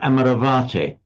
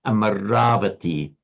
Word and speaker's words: Amaravati: Don't ever pronounce it amaravate.